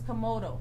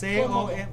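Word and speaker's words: Comodo: Uno que recomendamos es Komodo. Se escribe con una C y como se escribe como si uno dijera Cómodo.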